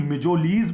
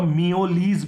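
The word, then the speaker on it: mjölis: इसका प्रोनाउंसिएशन मिजोलीज भी है और मियोलीज भी है, क्योंकि फॉरेन लैंग्वेज का वर्ड है, इंग्लिश लैंग्वेज का वर्ड नहीं है।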